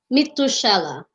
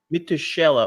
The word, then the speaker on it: Mithushielah: Mithushielah. Mithushielah.